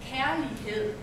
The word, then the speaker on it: kærlighed: An A and E put together, pronounced like A. Yes. And the word is, you can repeat after me, care. Care. Lee. Lee. Hed. Hed.